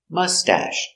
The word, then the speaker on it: mustache: very good pronunciation mustache mustache put the accent on the first syllable mustache soft sound mustache